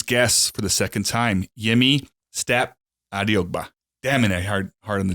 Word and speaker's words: Yemi Stapp-Adeogba: Today's guest for the second time, Yemi Stapp-Adeogba. Damn it, hard on the D, huh? Did I get it right? No, that sounded good. Give it to me one more time. Yemi Stapp-Adeogba.